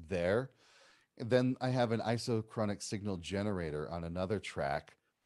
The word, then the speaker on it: isochronic: Isotronic. Did I say it right? Isochronic. Isochronic.